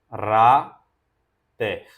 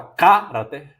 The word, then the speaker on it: caráter: palavra caráter né C cará ter você não fala carater você não fala carater você fala caráter não é carater carater é caráter essa aqui é a